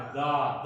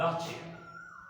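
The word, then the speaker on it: the: होती है तो उसके पहले जो टीएचई है उसका उच्चारण होता है दा, दक्ष। जब ये सारी व्यंजन, सारी काम वावेल से शुरुआत होती है, ए ई आई ओ यू से, तब टीएचई का उच्चारण होता है दी, दी इंजीनियर। ध्यान दीजिएगा, इस प्रकार से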